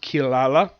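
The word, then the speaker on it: Kirara: Kahaku, Songo, and, well, for some reason, the submarine name is pronounced Kilala in the anime. It's basically spelled Kirira.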